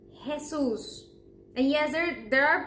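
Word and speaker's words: Jesús: say that one because if you said Jesus as as you say it in English well you're mistaken we say Jesus because our JS are actually sort of like your H is hesus and yes there there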